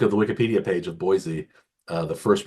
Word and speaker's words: Boise: So I think Penn State will win, but I'm gonna I think money line Penn State, but I would do spread Boise State or Boise State, as many Yes.